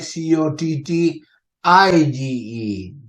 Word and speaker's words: cottage: Cottage c-r-p-t-a-g-e okay c-o-t-t-a-g-e but when you pronounce it you pronounce it almost like cot i g e so this is why